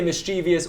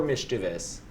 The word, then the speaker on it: mischievous: Oh, no, I don't think mischievous is right. There's no I-O-U-S. Shit. No, it's What? you can pronounce it both ways.